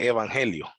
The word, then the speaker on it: evangelio: Junto eu y ángelos solo que, bueno, en griego cuando van pegadas esas tres se pronuncia F, la EU como F, entonces evangelio, ¿ya?